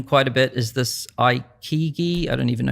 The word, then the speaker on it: Ikigai: Another thing I've heard people mention quite a bit is this I Kigi. I don't even know how to say it. Ikigai. Ikigai.